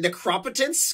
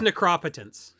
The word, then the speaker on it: Necropotence: which for some reason link pronounces it necropotence can we fire him for that I'll let him know and I'll see him in a few weeks it is necropotence okay Mr artificer hey